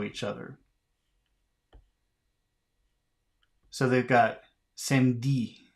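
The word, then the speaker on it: samedi: look at this word by Crossing out the E how many consonants follow each other so they've got same D say they they've written down same D which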